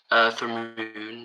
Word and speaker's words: Thramoun: How do I say it, just for future reference? Thramoun. It's the best way to pronounce it. Okay. Like a double O, I guess.